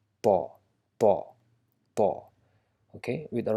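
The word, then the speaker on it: ط: It might sound similar to Ta, but Ta is straightforward with open mouth, Ta, and this actually comes from the same location but with a rounded shape in your mouth. So Pa with a slight W sound. It's not Twa, but it's Pa, Pa, Pa, Pa.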